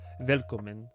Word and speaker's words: Willkommen: As if you were like an American, but it's I knew before I even tried to pronounce it that it was Willkommen, like that type of deal.